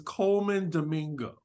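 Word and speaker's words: Colman Domingo: I just want to correct ourselves because we butchered this man's name his name is Coleman Domingo Domingo I apologize you know he is family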